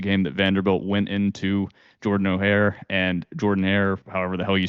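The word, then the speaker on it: Jordan-Hare: And, we also refuse to pronounce Jordan Hare correctly on this podcast, so we love that. But the O makes the O sound. I don't care where you're from.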